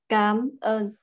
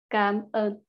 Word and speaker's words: cảm ơn: Cảm ơn with the low tone. Cảm ơn, similar to come on. And you can also say with a higher tone, like cảm ơn, cảm ơn.